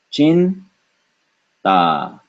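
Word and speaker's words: चिंता: If you hadn't noticed, that dot is na. Why? Because ta is pronounced with the tip of the tongue touching the teeth, and so we have chin ta, chinta.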